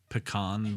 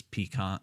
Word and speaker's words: pecan: your aunt's uh um pronunciation of pecan versus pecan pecan is actually regional um depending on where you go in in the re in the country regionally uh depends on how you pronounce that okay kind of like